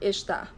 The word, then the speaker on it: estar: in formal written Portuguese we rarely pronounce the full word for the verb Ishta we usually drop the first syllable the is part of the verb let me show you